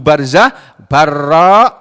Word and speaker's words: Barzah: Wa Nabi Barzah, dan dari orang perawi yang bernama Abu Barzah, Barra summa za. Biro membacanya Biro summa za. Abi Barzah. Nah, buka jadi Barzah, ro dulu kemudian za.